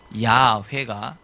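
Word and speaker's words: 야훼: 해서 그냥 여호와라고 하지만 사실은 여호와다는 야회 좀 더 합당하다고 이렇게 보는게 맞습니다 근데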